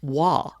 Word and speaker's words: Roy: his name is patrick his last name is spelled r-o-y so you would say patrick roy and you would be wrong his last name is pronounced wah now if you weren't